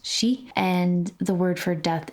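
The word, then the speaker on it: 四: It's considered like 13 because the pronunciation for the word is, at least in Japanese, it's shi, and the word for death is also shi.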